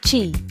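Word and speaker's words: Qi: For a while, you had to make sure your phone and your charger used the same standard like chi, pronounced chi.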